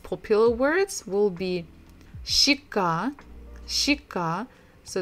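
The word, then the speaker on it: щека: of the most popular words will be shikka shika so it's a cheek part of your face chicka so the previous letter we said it kind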